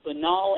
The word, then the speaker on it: banal: you and of course i had to look up how to pronounce banal because that canal banal anyway yes i'm here